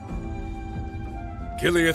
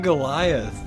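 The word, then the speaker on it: Giliath: Gileath Osborne has fallen. Wait, that's how you pronounce his name? I keep saying Goliath.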